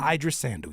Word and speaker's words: Idris Sandu: I just Sandu, Idris Sandu.